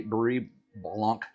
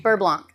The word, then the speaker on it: beurre blanc: That I don't know how to pronounce that word. Brie? Beurre blanc. This needs a little bit more chicken bouillon. All those letters to say beurre? Beurre blanc. Okay, beurre blanc.